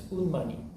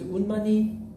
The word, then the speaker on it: Unmani: It's Unmani. There's Unmani pronounced in a high tone. Unmani.